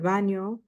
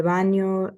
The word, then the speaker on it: baño: cocina, el dormitorio, el baño. Don't forget the ñ. It's pronounced like an N and a Y in English. So el baño, la bañera, el sótano, el techo, and then los quehaceres.